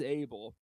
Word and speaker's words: Abel: we decided to, fully put to bed what the pronunciation is, and it is Abel.